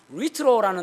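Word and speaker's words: λύτρον: 그 다음에 지금 이제 에베소서 1장 7절에 속량이라는 단어는 리트로라는 단어를 썼습니다. 리트로. LUTRO, 리트로입니다. U가 이제 그 히브리어 헬라어로는 위 발음입니다. 위. 그래서 리트로거든요.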